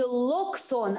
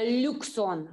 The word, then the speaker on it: Loxone: Да, не локсон, а люксон. Люксон, да, то есть как бы в сторону ю больше идет.